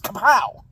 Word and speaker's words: Kapow!: in comes kabow and you got to say it like that too cuz there an exclamation point it's kabow West Coast IPA 6.5% which